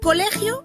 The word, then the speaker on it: colegio: En la palabra colegio, la sílaba tónica es le, mientras que las sílabas co y gio son las sílabas átonas. Colegio.